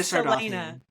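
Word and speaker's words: Sardothien: So it starts with the name on everyone's lips, Selena Sardathia. Is that how you say it? Selena Selena. Sardothian.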